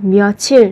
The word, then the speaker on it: 며칠: Khi đọc các bạn lưu ý về cách phát âm 며칠, nối âm bát chim lên.